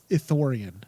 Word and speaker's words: Ithorian: Ithorian.